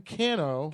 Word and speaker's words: Cano: it's hot over there it can be pronounced Kano but it's it's definitely not Cano are you palian Cano not what are you it's like a can of soup can o okay all right so